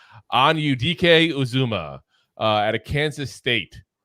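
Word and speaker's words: Anudike-Uzomah: yeah all righty on to number nine Felix anio DK uzuma and I'm telling you I cannot tell you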